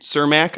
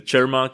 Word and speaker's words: Čermák: Like the Čermák, it's almost like the Czech people pronounce it.